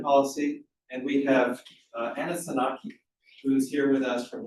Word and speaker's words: Tzanaki: And we have Anna Saki who's here with us from Leeds.